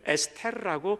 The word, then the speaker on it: 에스더: 히브리 말로 읽을 때는 에스테르라고 읽는데 그 뜻은 뭐냐면 The Morning Star, 새벽별이라고 부르죠. 이 모닝을 아침별이라고 해석하기도 하지만 보통은 새벽별이라고 우리말로는 해석을 하죠. 에스더, 에스테르, 어두운 시대에 별처럼